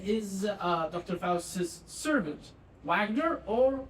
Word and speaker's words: Wagner: spouse's servant Wagner or Vagner. You want to pronounce it Wagner because that's a German character and the W is pronounced vag.